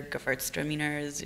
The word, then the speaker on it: Gewürztraminer: point, colder climate, white varietals, your Rieslings, your Gewürztraminers, your... and then, That's a tough one. I don't ever pronounce it.